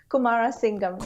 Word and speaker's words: Kumarasingham: How do you Well pronounce done. that? Is that right? Kumarasingham.